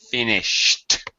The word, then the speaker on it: finished: verb tense just uh pronunciation finished t- sound pronunciation of the Ed finished I there you go and I really should be hearing that aspiration that that puff of air finished finished better much